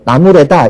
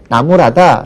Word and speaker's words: 나무라다: 주책 없다 이렇게 표현하시고 뭐 나무래다 이런 표현하기 딱 좋 좋거든요 하지만 그렇게 잘못 발음하지 말고 나무라다 라고만 발음해 주시면은 학생들은 그냥 그대로 따라할